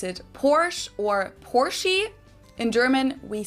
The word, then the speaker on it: Porsche: I think the more interesting thing here is why we lose the schwa, the sound from the end. Why do we say Porsche and not Porsche?